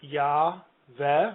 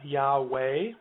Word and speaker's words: Yahweh: It's usually spelled Yahweh, Yahweh, Yahweh. I think that's about as good as we can do. The first syllable is definitely an A vowel, Yah.